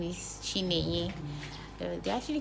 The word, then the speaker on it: Chinenye: Though one of the times I told someone my name is Chinenye, they actually call Chinonye and some other kind of.